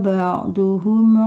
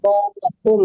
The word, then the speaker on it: بعضهم: Tilkar rusulu faddalna ba'duhum ala ba'd. minhum Ba'dhum ya mandeh, bukan duhum ya, tadi kebacanya ba'duhum. Ba'dhum.